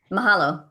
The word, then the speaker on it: Mahalo: Mahalo. Mohalo.